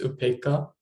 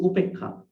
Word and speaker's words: upekkhā: So in here, Upekkhā, H long a, right? Dana, D, A, long A, Dana. It's like that. Anyway, so Upekkha.